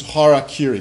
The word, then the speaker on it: harakiri: you when you take pronounce these characters in in spoken Japanese uh it becomes Hara Kiri Hara is this center